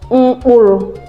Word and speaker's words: mkpuru: Then M as a syllabic nasal is pronounced as is a nasal sound.